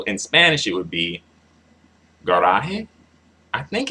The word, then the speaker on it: garaje: Emphasize the second to last syllable when it ends on a vowel. Also an N or S.